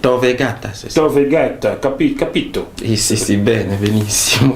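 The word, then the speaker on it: Tor Vergata: à l'Université de Rome Thor vegata je prononce bien ah oui c'est Thor vegata c'est ça capito c'est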